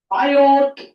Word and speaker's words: Biot: तो ये निकालने के लिए हमारे लिए बनाया गया है बायोट टी साइलेंट है।